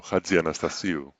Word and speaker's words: Chatzianastassiou: on screen, is Chatzianastassiou. How close was that? Good try, yeah. Okay, not quite, but how would you pronounce it? Well, it starts with a ch, so Chatzianastassiou.